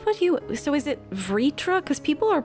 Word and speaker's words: Vritra: So is it Vritra? Because people are pronouncing it differently all over the place. I thought it was Virtra, but then... Vritra is what was being said in that Vritra, okay.